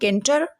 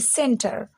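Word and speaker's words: center: पढ़ेंगे कॉमन क्या इसको पढ़ेंगे हम लोग केंटर जी नहीं इसकी प्रोनंसिएशन हो जाएगी सेंटर इसे पढ़ेंगे कंफ्यूज लेकिन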